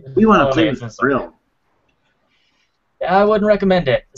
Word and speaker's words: Vril: Vril, V-R-I-L. Oh, V-R. Okay, I thought it was Brill this whole time.